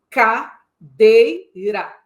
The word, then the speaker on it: cadeira: Cadeira. Você percebeu? Há uma tônica, mas existem 2 átonas. Ca é átona. Dei é tônica. Ra é átona.